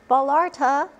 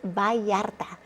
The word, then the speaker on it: Vallarta: 2 L's together make a Y sound. A perfect local example, Puerto Vallarta, not Vallarta, it's Vallarta.